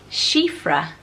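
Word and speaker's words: Síofra: popular today and I absolutely love it sighs she freh is such a lovely name s names a really really popular for girls and I really stood out to me seeing cifra it's one I've not heard of before it's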